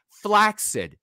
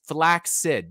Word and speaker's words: flaccid: thanks to this absolutely flaccid by the way that's the way it's pronounced just so everybody knows it's it's flax Sid double flax Sid flax